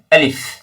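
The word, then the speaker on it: ألف: অংশ থেকে আলিফ আলিফ আলিফ উচ্চারণের শেষে ফ আছে ফা আছে তাই ফা উচ্চারণ যেভাবে হয় ওটাও একটু লক্ষ্য রাখবেন আলিফ আলিফ এভাবে দুই ঠোটকা মিলিয়ে দেবেন না আলিফ আলিফ আলিফ এভাবে উচ্চারণ হবে আচ্ছা ইনশাল্লাহ আগামী যেটা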